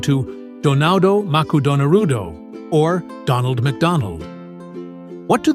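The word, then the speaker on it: ドナルド・マクドナルド: The letters R and L in English are rather tricky for Japanese speakers to pronounce. As such, McDonald's decided to change their mascot's name to Donado Maku Donarudo or Donald Macdonald.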